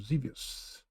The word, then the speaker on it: Xevious: Next game, Xevious. That's how it's pronounced.